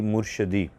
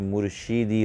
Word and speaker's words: مرشدی: کیا ہے کہ سیدی مرشدی، یہ گستاخی ہے، کیونکہ مرشدی لفظ درست نہیں ہے، اصل میں مرشیدی ہوتا ہے، شین کے نیچے زیر ہے، اور اس طرح سیدی